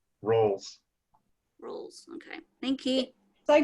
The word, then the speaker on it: Ralls: Ralls. Like calls. Falls flat on his face. Falls R instead of F. Ralls.